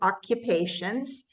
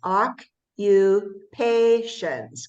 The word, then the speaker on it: occupations: And you say it like this, occupations. Can you say that? Occupation. Occupations. Yes. And we know the TIONS always says shun in English.